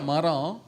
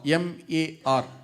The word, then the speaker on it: myrrh: அதுல ஒரு குறிப்பிட்ட மரம், அதுக்கு பேரு மர், நாட் மிர், மர் மரம், MAR, மர் ட்ரீ அப்படின்னு பேரு. There's a tree which is called mar, which is spelled MAR.